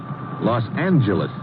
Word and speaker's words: Los Angeles: to California Los Angeles correction Los Angeles huh yeah soft G it's official now it's